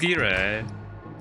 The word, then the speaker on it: gyro: Although it's technically pronounced gira.